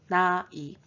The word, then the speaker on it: 나이: And the last word is age, it's pronounced 나이, 나이, 나이.